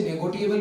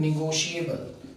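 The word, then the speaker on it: negotiable: इसे कई बच्चे नेगोटिएबल भी पढ़ लेते हैं, पर इसका सही प्रोनाउंसिएशन उच्चारण है निगोशिएबल।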